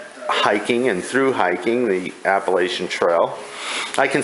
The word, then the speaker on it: Appalachian: this realm of hiking and through hiking the Appalachian Trail I can say Appalachian Trail right now